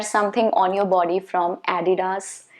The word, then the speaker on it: Adidas: And it's supposed to be Adidas. Okay, Adidas.